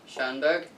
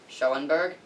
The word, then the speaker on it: Schönberg: umlaut, like that, but should still be pronounced Schönberg, not Schoenberg.